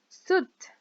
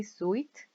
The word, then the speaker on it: suit: in this case trousers suit we don't say suet without suit back skirt skirt a